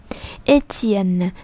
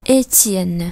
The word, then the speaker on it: Étienne: Đối với 2 trường hợp cuối thì chúng ta sẽ đọc là T. Étienne, Sébastien, tiens, tiens, lao tiens, lao tiens.